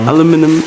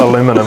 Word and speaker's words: aluminium: And just for the American viewers, oh no, fully aware, in New Zealand we pronounce aluminium, aluminium, not aluminum. We spell it different, it's pronounced aluminium.